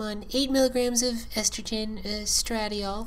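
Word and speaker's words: estradiol: eight milligrams of estrogen stratiol i believe it's pronounced and 200 milligrams of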